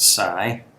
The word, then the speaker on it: xi: Ada and Sai that XI is pronounced Sai or I guess you could say it with a z kind of sound Z if you wanted I don't know I